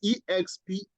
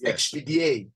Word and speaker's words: Expedier: But yours is EXPEDIER, right? Okay. Yes. Okay. Actually, it's a French word.